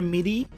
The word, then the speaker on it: MIDI: are you convert your piano into like a midi like a controller or something that's how it's pronounced midi m i d a lot